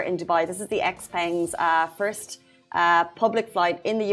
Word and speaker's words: Xpeng: Brian Gu, Vice Chairman and President of how do you pronounce it? Xpeng.